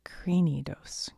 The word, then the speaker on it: Cranidos: Cranidos.